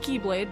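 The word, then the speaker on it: χ-blade: body this union spawns the Chi blade it's pronounced Keyblade but I'm calling it Keyblade for simplicity which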